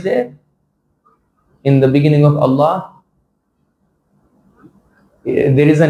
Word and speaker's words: Allah: What is the heavy pronunciation? It happens whenever there is a fatha or dhamma before the lam. So when you say Allah, so lam will become la, la.